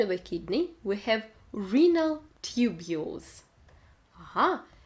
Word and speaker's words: renal: Inside of a kidney we have renal tubules. Ага, слово почечный читается как renal. Буква И звучит как в алфавите. Renal, И.